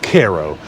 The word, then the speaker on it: Cairo: will get annoyed to tell you that it's pronounced Cairo but that's really annoying to me because it's literally next door to a town called Thebes so we're gonna call it Cairo right but half of its abandoned every other